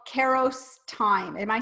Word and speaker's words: Kairos: you talk a little something about something called Karros time am I saying that right I think it's actually I had to look up to pronounce pitch for that hi Ross time hi Ross I'm awesome so what does